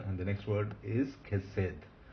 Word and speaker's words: chesed: Chesed, mercy, mercy. And this is a Segolate noun. It's accented on the first syllable.